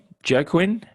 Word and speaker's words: Joaquin: Joaquin?